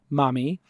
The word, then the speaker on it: Mahmee: CEO and co-founder of mommy which is spelled mah m ee comm if you want